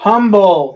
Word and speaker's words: Humble: at the map, and it starts with H. Yep. So they're going to think it's Humble. Texas. That's how it's supposed to be pronounced in English, but it's one of those colloquialisms. It's easy to tell if you're not, from out of town.